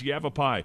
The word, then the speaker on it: Yavapai: eight years yeah and every time he referenced he never pronounced it right that's not a joke he never pronounced a ride and he said you have you've a be Indians here right that casino is owned by the evap Indians I said dad it's yabba pie yeah uh and like